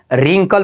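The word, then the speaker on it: wrinkle: पर भी है ये आर से पहले आया हुआ है डब्लू तो डब्लू का उच्चारण बिल्कुल नहीं होता है तो इसको क्या पढ़ते हैं रिंकल पढ़ते हैं याद रखिएगा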